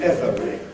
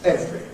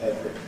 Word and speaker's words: every: So, the first word here used to be every, but really that's unrealistic for modern English. It's now normally, in fact I think always one could say, pronounced every. Because it's such a common everyday word, people compressed it all the time, so we now learn it only in its compressed form as children.